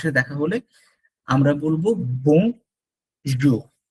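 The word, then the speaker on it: bonjour: এই যে একটা ওয়ার্ড বং, ইটস নট বোন, ইটস বং। এখান থেকে বং, ইটস কামস হিয়ার, বং বং। আর পরেরটা হচ্ছে জুখ, বলবো না আমরা, আমরা বলবো জু।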